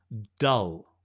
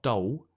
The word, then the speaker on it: dull: see the tongue right it's not Dull it's dull it's dull I almost bite my tongue at the end but I'm not hungry so I don't eat it it's dull good the tongue just rests relaxed on the teeth so you get that dark L right it's dull today